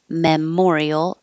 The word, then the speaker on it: memorial: The ME is not stressed, so it can be memorial, or because any unstressed syllable could be m. And it doesn't really matter because they're both going to be so short you can't tell.